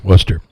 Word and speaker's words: Worcester: And just a quick uh note here, apparently it is pronounced like it is in Boston. I didn't think it was. Yeah. Worcester.